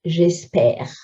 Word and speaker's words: espère: Nous espérons, but j'espère. Again, we're putting an accent grave on the ones that have a silent E at the end.